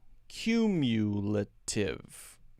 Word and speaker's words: cumulative: Cumulative. Cumulative. Cumulative. Cumulative. Cumulative. Now notice, cum and u are the same, but I don't say lative. It's l-tive. L-tive.